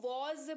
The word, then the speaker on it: was: WAS, इसको वॉज पढ़ते हैं। सबसे पहला चीज जो फोकस करेंगे वो उच्चारण है। वॉज इसको पढ़ते हैं, हल्का सा ज का साउंड आता है इसमें, तो वॉज इसको पढ़ते हैं।